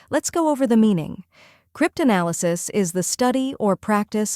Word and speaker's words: cryptanalysis: welcome to the channel today we're mastering the pronunciation of the word cryptanalysis it may sound a bit technical but don't